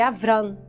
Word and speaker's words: Abram: né minha princesa e abram na verdade a pronúncia correta do nome dele abram abram as é pai pai